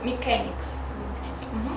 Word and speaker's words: mechanics: Только слово механик читается mechanics. Потому что вообще обычно CH, да, это звук Ч.